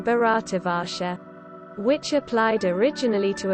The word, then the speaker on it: Bharat: of the indus 63 the term bharat bharat pronounced bat listen mentioned in both indian